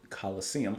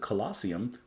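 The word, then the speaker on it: Colosseum: uh who's played with Coliseum I almost said colosium that is not how you pronounce them uh and Humble Pie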